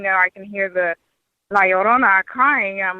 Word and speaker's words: Llorona: Spell it. L-A and space L-L-O-R-A. No. It's L-L-O-R-N-A. N-A? Okay. Llorona.